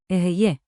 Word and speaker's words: אהיה: Aheye.